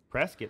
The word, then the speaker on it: Prescott: off the courthouse prescott prescott rhymes with biscuit and then in uh